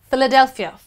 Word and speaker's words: Philadelphia: Moving on to the next alphabet, PH becomes F. Philip. Philip. You actually would say F. Philip. Phoenix. Phoenix. And finally, Philadelphia. Philadelphia is placed in United States of America. So it's Philip, Phoenix, Philadelphia. Philadelphia.